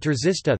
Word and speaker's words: trzysta: Polish words czysta, clean, F, pronounced with an affricate, T, and terzista, 300, pronounced with a sequence, T, are an example of a minimal pair based on such a contrast.